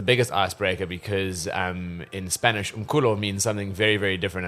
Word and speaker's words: Umculo: All right, so it's pronounced Umculo, and in Zulu and Xhosa, it means music.